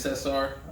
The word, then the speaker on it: Cesar: I was so politically correct, I even said, hey, would you like to, was it pronounced Cesar or is it pronounced Cesar? He says, it's actually Cesar.